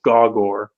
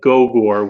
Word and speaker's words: Gogor: from the writer, and he does explain the pronunciation as Gawgor rather than Gogor, which is what I thought it may have been. That's what we said last week.